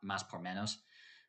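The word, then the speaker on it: Más x Menos: There's an X, but we pronounce it Mas por Menos, more for less, obviously in Spanish.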